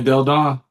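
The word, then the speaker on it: Delle Donne: Lena Del Don.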